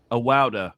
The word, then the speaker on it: Awawdeh: How do I pronounce that? I just want to make sure I don't mess it up. Awawdeh. Okay. My apologies. Murad Awawdeh.